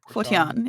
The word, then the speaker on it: Phortáin: oh wait is it forain or is that pronounced for forchain foran yes foran if you really want to get really technical